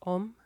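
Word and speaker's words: homme: term home how would h-o-m-m-e i think it's om okay v-a-s-s-a-l um can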